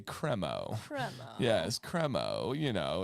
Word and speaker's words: Cremo: and it's actually pronounced cremo Dan if you look up their YouTube channel they say cremo cremo yes cremo you know it's the cremo of the crop don't name your company